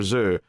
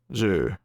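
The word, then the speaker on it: Xu: Zhu, if I'm pronouncing that correctly. It's X-U, Zhu. Yeah, I'll go with Zhu.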